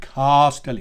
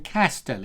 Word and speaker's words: Castelli: Castelli, Castelli, Castelli. Right? Don't fall into the trap of saying Castelli, because that makes you sound a little bit common, a little bit cheap.